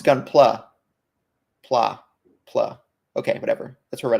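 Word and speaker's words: Gunpla: gumpla um is it called isn't it called gumpla it's what the word looks like how it's pronounced as if I would know gun oh it's gun PL pla PL okay whatever that's where Reddit says that's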